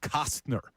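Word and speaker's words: Costner: We're doing Kevin Cosner movies in honor of the Field of Dreams game tomorrow. Good job by you. Said it right that time. I had to really emphasize the T. Cosner movies.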